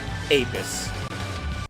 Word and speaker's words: Apis: It's like the only early game demons I can think of are Harpy, Conical Angel, and Apis. Or Apis, how it's pronounced.